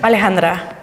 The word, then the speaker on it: Alejandra: said it right yeah how do you say it alejandra a little bit more soft wow fabulous all right